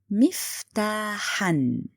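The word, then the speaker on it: مفتاحًا: Miftahan. You put alif, then tanween al-nasb. You pronounce noon, miftahan. But be careful, you don't write it.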